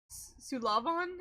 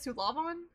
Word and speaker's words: Sullivan: Um, I like how the last name Sullivan is originally pronounced in Irish. Sulavon is how you say it. Sulavon Sulavon.